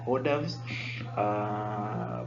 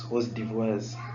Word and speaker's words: hors d'oeuvres: The one which usually the correct pronunciation is the hors d'oeuvres, but most of us usually pronounce them as hors d'oeuvres.